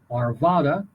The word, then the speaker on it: Arvada: But anyway, the city of the day for Colorado Limericks of the Damned is Arvada, or you might want to pronounce it Arvada, Arvada.